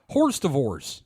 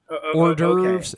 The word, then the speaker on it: hors d'oeuvres: Horse Divorce, and Tupi. Hors d'oeuvres and toupee.